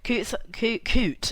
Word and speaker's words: coot: the way it works coot not coots coot aren't aggressive birds you pronounce it coot rather than coots so you got some